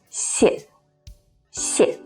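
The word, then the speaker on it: 谢谢: to say thank you the first see is the original fourth falling tone sharp and short si si and the second one changes to the neutral tone which is light without any stress and with no mark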